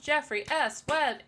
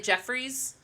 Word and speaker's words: Jeffrey S Webb: oh yeah of course why do people say Jeffries yeah everyone thinks it's a possessive oh no no or